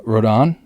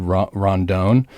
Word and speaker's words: Rodon: i got on uh rodon i totally missed pronounced his name earlier to somebody i said rondon so i apologize to